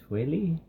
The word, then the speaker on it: Tway: I am being joined by the Assistant Commissioner of the DCHL, Matt Tway.